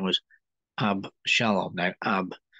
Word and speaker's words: Avshalom: from one of his sons, whose name was Abshalom. Now, Ab, pronounced Av in Hebrew, A-B, where we get Abba. It means father. Av means father. And Shalom is peace, well-being, prosperity, and health. Av Shalom, father.